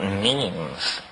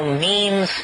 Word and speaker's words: meme: last year about about memes you know what memes are memes are the smallest units of a concept and they're like genes the word is deliberately constructed to to rhyme with Gene and so when I